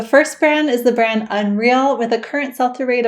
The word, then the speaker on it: UNRL: The brand is spelled UNRL but it's pronounced UNRL.